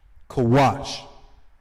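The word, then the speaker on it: כוש: How it's pronounced in the Hebrew. Kawash.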